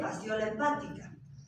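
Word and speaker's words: Fasciola hepatica: escribe nun estari sí no van a leer faciola hepatica verdad se lee faciola hepática pero no se escribe FC solo en las nombres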